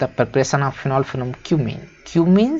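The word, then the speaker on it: Cumene: मत पढ़ लेना भाई, ये क्यूमीन है। बहुत सारे लोग समझ रहे हैं क्या क्या पढ़ लेते हैं, है ना, तो इसको वही पढ़ें जो इसका प्रोनाउंसिएशन है।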